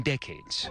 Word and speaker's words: decades: It became one of the deadliest crowd crushes in decades. Deadliest crowd crushes in decades. In decades죠. In decades. Decades의 강세 앞에 강세가 있다는 거 주의하셔야 됩니다. Decay라고 쓰시면 Decay라고 그 발음하시면 안 됩니다. Decade라고 해야 돼.